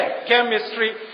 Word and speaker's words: chemistry: तो CHE माने के, केमिस्ट्री।